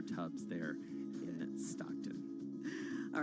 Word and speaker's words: Tubbs: but i mispronounced his i said stubs it's dubs mayor tubbs there in stockton all